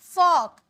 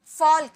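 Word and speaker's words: folk: लोग, फॉक, फॉल्क, यहाँ पे जो एल है ना ये साइलेंट है, इसे फॉल्क नहीं, यहाँ पे एल जो है साइलेंट है। जैसे कि एग्जांपल में वॉक ले लीजिए, इसे वॉल्क नहीं, एल साइलेंट होता है, इसे वॉक पढ़ते हैं, वैसे इसे फॉक पढ़ेंगे, फॉल्क नहीं पढ़ेंगे, ओके।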